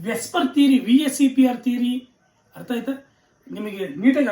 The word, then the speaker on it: VSEPR: Valence shell electron pair repulsion theory, VSEPR theory ಅಥವಾ ವೆಸ್ಪರ್ theory ಅಂತ ಕೂಡ ಕೆಲವರು ಉಚ್ಚಾರಣೆ ಮಾಡ್ತಾರೆ. ನೋ ಪ್ರಾಬ್ಲಮ್, ಹಿಂಗಾದ್ರೂ ನೀವು ಉಚ್ಚಾರಣೆ ಮಾಡ್ಕೊಳ್ಳಿ.